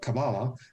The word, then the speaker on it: Kabbalah: that so yeah that's kabbalah means you speak hebrew if you want to call it kabala that's fine because i hate these these